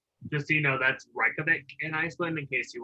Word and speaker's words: Reykjavik: Just so you know, that's Reykjavik in Iceland, in case you wanted to know how to pronounce that.